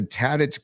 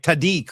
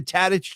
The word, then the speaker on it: Tadich: He was calling it like Tadik or something like that. Did you hear that? Yeah, it was weird. He didn't know how to pronounce Tadich.